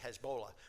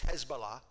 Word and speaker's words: Hezbollah: is how you say we used to say Hezbollah but it's Hezbollah which is a radical militant